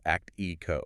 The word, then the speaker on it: ACTIQO: And just to clarify right up front, because this framework is super central to our discussion, it is spelled ACTIQO, and it's pronounced act ee-ko.